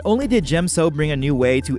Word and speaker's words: Djem So: else into the classic discipline not only did Jim so bring a new way to implement the fifth